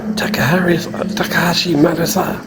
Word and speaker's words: Takashi Murakami: Takashi Murakami.